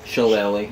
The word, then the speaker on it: Shillelagh: And here's one from under the cage to set in the Irish club that I always have a hard time pronouncing sometimes to Philly. Shillelagh.